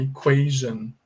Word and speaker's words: equation: Então, ó, equação, uma equação matemática, por exemplo, em inglês se fala equation, equation, equation, tá bom? Então, esse shan aqui, esse ton, ele não é pronunciado com som de shan, como em todas estas palavras aqui anteriores que eu mostrei para vocês, tá bom?